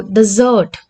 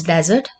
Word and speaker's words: desert: See, in desert, the stress is on first syllable. In desert, the stress is on last syllable.